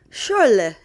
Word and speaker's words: Schorle: And what's sad is that is SCH, I always think of Scheiße. So I could pronounce sh, like it's supposed to in German. So it was Schorle.